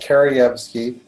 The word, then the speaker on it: Kerievsky: First of all, it's pronounced Kerievsky.